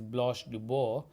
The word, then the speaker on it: Blanche DuBois: The French pronunciation is Blanche Dubois, the protagonist, the central character of the play.